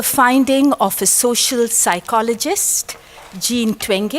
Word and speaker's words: Jean Twenge: of a social psychologist Jean Twenge I pronounced at the European way who has written a